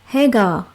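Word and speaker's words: Haigha: happy his name is hegar he pronounced it so as to rhyme with mare i love my love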